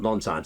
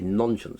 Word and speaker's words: Nonscience: by the way not non-science I would say nonsense because it sounds a bit like nonsense but the original launch